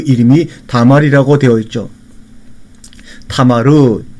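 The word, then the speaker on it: תמר: 타마르, 이렇게 우리가 히브리어로 발음을 합니다.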